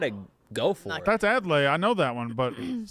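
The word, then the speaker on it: Adlai: if you got it go for it that's adlay I know that one but too much I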